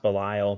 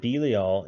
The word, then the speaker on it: Belial: see zero and Belial again I know it's pronounced Belial but I swear they pronounce it be all in Japan and that's why it's always stuck